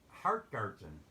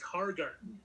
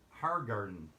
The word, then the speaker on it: Hargarten: do you pronounce it heart garden no tea there's only one tea it's hargarten har garden okay and everybody mispronounces